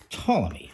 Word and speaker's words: Ptolemy: Today we're looking at how to play Ptolemy. At least I hope that's how it's pronounced, with a silent P, which is from Schemers again.